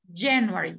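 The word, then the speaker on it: January: sílaba tónica en inglés Entonces cómo leemos enero en inglés el acento o la sílaba tónica es la primera jennuary Ok lo mismo pasa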